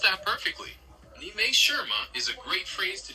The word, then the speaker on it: 你没事吗: It's pronounced kind of like 你没事吗? 没事 essentially means nothing is wrong or it's all right. Would you like to try that one? 你没事吗? You're very close. The exact phrase is 你没事吗? The word 事 is the key one there.